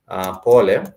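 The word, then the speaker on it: pole: sorry sorry you say pol you say pol for sorry you say pol for sorry which is spelled like Paul but you say pol these are two syllable two syllable word po and pol is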